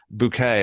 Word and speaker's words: Bucket: Well, my guess would be that there is a UK television character on a show called Hyacinth Bucket. And she insists that her name is pronounced Bouquet.